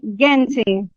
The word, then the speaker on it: gente: I think that it's g in Gente.